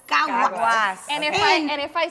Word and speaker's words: Caguas: Caguas. Caguas.